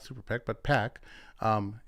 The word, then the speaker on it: PAC: um and now uh founder of the anti-ionist super PAC uh or not super PAC but pack um as a pack is how you pronounce it.